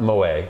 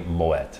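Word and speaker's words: Moët: noticed we've been saying the real french pronunciation of the brand is not moe though of course it's entirely acceptable it is actually moet i have so many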